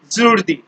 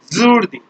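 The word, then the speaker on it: jeudi: Thursday, zurdi. Zurdi. Zoo. When we pronounce zoo, that zoo is included here. So we pronounce Thursday zurdi.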